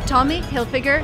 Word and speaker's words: Tommy Hilfiger: they told me that the correct way to pronounce this friend's name is tommy hilfiger just the way i pronounce it and you should know